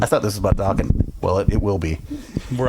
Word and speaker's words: Dokken: Dokken, ladies and gentlemen. Rhymes with rockin'.